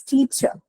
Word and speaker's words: teacher: in the actual articulation the last ER is the schwa sound so it's teacher if you're trying to